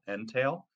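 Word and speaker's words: Netail: Crystal a company called n-e-t-a-i-l entail um it's kind of a weird way of saying it but that's how it's spelled and it's it's uh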